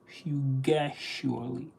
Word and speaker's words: fugacious: Pronunciation is fu as in furious, and ga as again, and cious from auspicious, fugacious, fugacious.